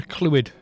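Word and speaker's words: Clwed: not gonna lie yeah clue it that's how it's said yeah that's his name fluid c l w e d fluid it's welsh don't worry about it well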